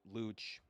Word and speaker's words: Luch: You'll find people or meet people who call me Luch, which because yeah, you would think it was Luke if you saw it in printing, but it started from Luch, Luc, but like with a silent H.